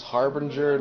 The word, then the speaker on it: Harbinger: I pronounce Harbinger like there is an R between the B and the I, so, yeah.